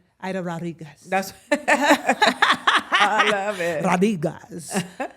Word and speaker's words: Aida Rodriguez: Aida Rodriguez.